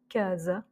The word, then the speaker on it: casa: Donc il y a par exemple casa. Donc là c'est le premier A qui va avoir l'accent tonique.